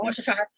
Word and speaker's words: Worcestershire: It's pronounced Worcestershire.